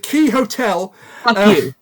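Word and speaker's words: Qixotl: I like the fact, by the way, um, that you don't find out how to pronounce his name until you're halfway through the book.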